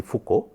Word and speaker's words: Foucault: So, that was first done by a French scientist named Léon Foucault. Do not go by the spelling, the actual pronunciation will be Foucault, and that was first demonstrated in 1951.